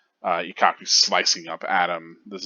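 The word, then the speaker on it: Ikkaku: I went with the pronunciation of E because that is how you would pronounce the I in Japanese. It's E, like Ichigo. Ikaku, Renji.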